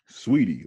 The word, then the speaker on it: Saweetie: Saweetie.